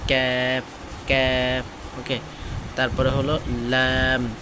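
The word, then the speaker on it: ل: এটা একটা পাতলা উচ্চারণ, ক্যাপ ক্যাপ। ওকে, তারপরে হলো ল্যাম, 8 নম্বর মাখরাজ।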